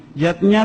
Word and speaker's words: yajna: Yatnya tulisannya yajna ayah bunda, tapi membacanya yatnya.